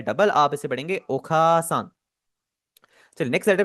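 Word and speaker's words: お母さん: ओखासान।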